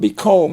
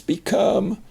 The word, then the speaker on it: become: make that oh long it's not be calm it's become and then we have coming